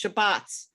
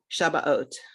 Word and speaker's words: Shabbat: background you would say shabas right if you come from a modern Hebrew or spartic background you would say Shabbat I think in America